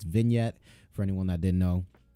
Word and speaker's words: vignette: But it's vignette for anyone that didn't know.